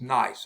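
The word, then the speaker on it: gneiss: it is nice okay the g is silent but it's nice it's a piece of nice i don't know if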